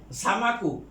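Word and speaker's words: السمك: আর সামাকু হলো মাছ, আমরা যে মাছ খাই সামাকু, এই সিনটা হলো হরফ শামসিয়া, কাজেই লামের উচ্চারণ হবে না।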